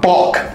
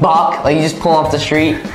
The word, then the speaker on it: Balk: Well, think about it like it's a baseball term. A balk is a baseball term. You don't, yeah, never mind. Yeah, it's pronounced like B-O-C-K, I would imagine.